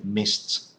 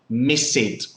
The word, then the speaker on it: missed: on the list okay so you see missed RS with list okay so in pronunciation that's the pronunciation okay Mist like the like Gorillas in the Mist like the movie okay gorilla okay mist